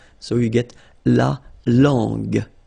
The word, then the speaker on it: langue: So you get to put this U between the two to get the sound G, G. So you get la langue, langue.